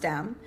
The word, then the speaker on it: DANM: Yeah, so this feature film, DANM, it's spelled DANM, it's pronounced DAM.